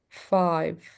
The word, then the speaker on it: five: Every single time that you find a V, I have to exaggerate it. Five.